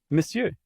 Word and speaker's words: monsieur: How do you pronounce it? Monsieur.